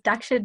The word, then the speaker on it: Daksha: having me today um no you actually pronounced pronounced it spot on so it was daksha and you got it 100 correct